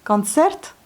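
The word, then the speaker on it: концерт: comme un R, presque, concert. Mais le O, on le prononce presque comme un A. Concert. Concert. Il n'est pas accentué. Ensuite, on a téléphone.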